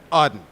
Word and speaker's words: Audin: country right now and so in this country how do they pronounce it awesome odd right there we go oh you